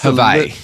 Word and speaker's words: Hawaii: It's Hawaii. It's a little different. Yeah, for sure. They don't pronounce the W; they pronounce it with a V.